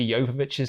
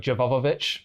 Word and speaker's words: Jovovich: People always say Mila Jovovich's name wrong. People say like Jovovich, but it's Jovovic. Yeah, but it's Jovovich.